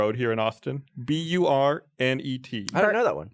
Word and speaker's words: Burnet: Well, That's a how- lot of people say Burnett. Burnett. Oh. But I've heard many people say Burnett. I feel like that would need two T's and possibly an E.